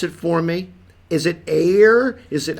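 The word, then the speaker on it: Éire: Is it air? Is it? How I do think you? it's Ire. I've just kind of. I mean, I don't pronounce anything.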